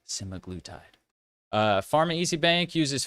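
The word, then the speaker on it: semaglutide: weight loss products including oral simiglutide. Pronunciation simaglutide.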